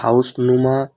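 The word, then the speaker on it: Hausnummer: straight is this the হাউস নুমা ডি হাউস Numan D হাউস নুমা ডি হাউস Numan এখানে শেষে ই আর আছে এখানে আর এর উচ্চারণ হবে না ডয়েসে গ্রামারে আছে এটা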